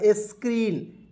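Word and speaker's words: screen: है तो यहां देखिए सी आर से होता है क्र डबल ई से बड़ी ई की मात्रा एन से होता है ना दोस्तों हो जाएगा स्क्रीन ठीक है स्क्रीन मीस क्या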